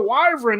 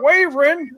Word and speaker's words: wyvern: just like you know I used to call the the wyvern the wavering oh it's a wyvern not a wavering I was like Brooke